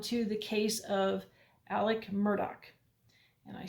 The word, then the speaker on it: Murdaugh: Um, I would prefer to pronounce his name Alex Murdo because that's how his name is spelled. However, u from the trial it appears that his name is pronounced Alec Murdoch. Uh, sorry, Alec Murdoch.